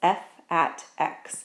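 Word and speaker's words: f(x): And what that's actually pronounced as is F at x. So this f with an x beside it is not actually f times x, it's called f at x.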